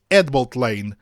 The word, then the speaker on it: Headbolt Lane: da nossa Rede Ferroviária escreve-se head Bolt Lane mas pronuncia-se head Bolt Lane saiu s do H porque head associada a bold forma uma palavra que denomina o nome da rodovia adjacente à estação ferroviária não se tratando de duas palavras separadas como pequeno à parte